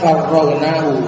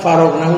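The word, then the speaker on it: فرّغناه: Walau farragnahu, bacanya farragnahu pakai tasdid karena tadi faragha itu bisa sendiri. Amil tadi kosong atau furrigo, tadi bacanya itu furrigo. Bisa faragha, bisa furrigo. Bebas. Faragha itu artinya kosong atau bebas. Ini karena kita yang mengkosongkannya, akhirnya pakai farragnahu. Enggak bisa faragnahu, enggak bisa.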